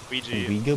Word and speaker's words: Ouija: Ouija board? That's how you pronounce it.